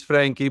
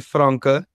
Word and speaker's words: Franka: so obviously I know people call it Frankie but it's actually franka so that's that's the pronunciation of it and uh so thank